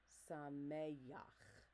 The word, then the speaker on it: Sameach: So I shouldn't hear Sameach because there's no yud in the word. Sameach. I shouldn't hear Sameach. Again, you do not want to add a guttural. It should go right into the next syllable.